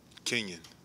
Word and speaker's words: Kenyon: So, can you tell me how to pronounce it? Is it Kenyon or Kenyon? Kenyon.